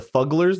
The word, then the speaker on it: Fuggler: Like juggler with an F?